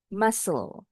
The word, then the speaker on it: muscle: Muscle. Bunyi huruf U-nya sama seperti bunyi huruf U dikata umbrella.